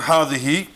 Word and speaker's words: هذه: And hadihi is pronounced as if it were written with an alif.